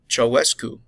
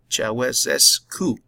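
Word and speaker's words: Ceaușescu: until their dictator Nicolae Ceausescu was captured and executed I apologize I botched the pronunciation it's Chava s coup in 1990 with the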